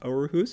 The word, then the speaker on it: Aarhus: It's two A's, which is, we don't have that letter in our alphabet. So it's sort of pronounced Aarhus if I'm...